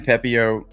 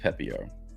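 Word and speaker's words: Pepiot: I think his last name is pronounced Pepio.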